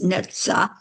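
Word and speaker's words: נצח: I wasn't sure but I did look up the pronunciation of this word and it's neta and it is in the um going to just read you what I found about it.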